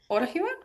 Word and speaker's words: Orihuela: Yeah, so tomorrow we're meeting in Orihuela. Did I pronounce it right?